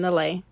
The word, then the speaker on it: Neleh: is my artist name that's Helen Helen backwards pronounced Helen laay and uh I am